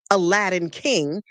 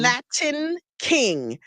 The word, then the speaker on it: Latin King: And I was like, it's not Aladdin King. It's that's why they said Aladdin a King? Latin king, because Luis was a Latin King gang member.